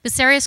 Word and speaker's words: Bucerius: From 2007 to 2009, she was assistant curator at the, I didn't even ask you how to pronounce this, Bucerius? Yeah. Bucerius Kunstforum in Hamburg, where she helped to organize